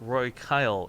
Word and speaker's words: Roy Kyle: By the way, our lovely resub has corrected me on the pronunciation of his name. It's Roy Kyle is how I'd like it pronounced.